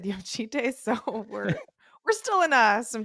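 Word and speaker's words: Jocytė: Ohema had Yosite in the press conference, but I think Xena, like the video she posted of the athlete herself, said Yoshite, so we're still in, some disagreement here.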